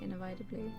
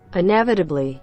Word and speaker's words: inevitably: love the games you play make you say innovatively and it's open why why am i pronouncing it wrong wait how do you how do you pronounce it inevitably oh inevitably it never to be okay maybe